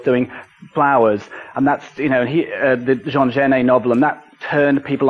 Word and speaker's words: Jean Genet: There was Lindsay Kemp, of course, doing Flowers, and that's, the Jean Genet novel, and that turned people onto Jean Genet. And if you mispronounce Jean Genet, you get Jean Genie.